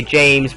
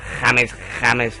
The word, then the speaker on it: James: James Rodriguez and a lot of people say James but he his name is actually pronounced jameses I don't know why but don't ask me